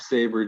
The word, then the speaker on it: Sabre: Is it Saber? How do you pronounce this guy's last name? Zack Sabre Jr.